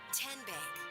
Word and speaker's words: TN: virtual showroom at How do you say the name TN? Nope. Tin Bank. Uhuh. So, what is it? 10. 10 as in Tennessee.